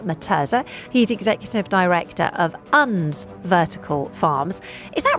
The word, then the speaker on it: UNS: Well, actually you you you hit the you hit the nail on the head. It's uns vertical farms.